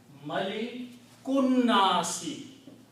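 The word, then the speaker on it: مَلِكُ النَّاسِ: And when you pronounce again, combine this kaf with the noon. Don't sound alif here. Malikunnasi. Malikunnasi.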